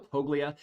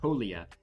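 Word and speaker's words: Toglia: the life as for Michael tolia toia excuse me I realize I've been pronouncing his name incorrectly Michael toia he has the benefit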